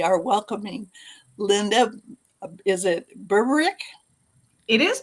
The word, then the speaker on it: Berberich: Is it Berberich? It is Berberich.